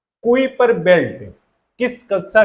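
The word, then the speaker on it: Kuiper: घेरा है, हम इसे कुइपर बेल्ट भी कह सकते हैं, और इसका उच्चारण कीपुर होता है।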